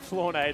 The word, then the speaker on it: Flornado: Nah, it's just a tricky, like, first syllable, you know? Yeah. Oh, you say floor? That's a common English word.